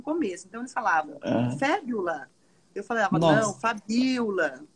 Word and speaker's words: Fabiola: cheguei nos Estados Unidos, as pessoas não conseguiam pronunciar meu nome, que era Fabiola, né? E Aham. aí, eles lá têm a tendência de colocar o acento sempre no começo da palavra.